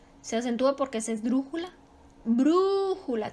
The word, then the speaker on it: brújula: se acentúa porque esdrújula brújula también es su sílaba tónica está la antepenúltima y es esdrújula por lo tanto se